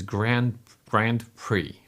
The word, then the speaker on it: Grand Prix: So, right pronunciation is Grand Prix, if I'm not mistaken.